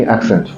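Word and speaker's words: accent: असेंट नहीं, एक्सेंट।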